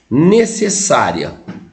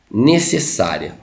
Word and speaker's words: necessária: Como é que você separa a sílaba no necessário? Geralmente você separa ela assim, ó. Ne. Se. Aí você põe o S, porque nunca fica na mesma sílaba. Nunca fica na mesma sílaba consoante dobrada ali. Necessária, tá? Necessária, ou seja, você tem uma paroxítona terminada em ditongo, igual foi aqui, ó.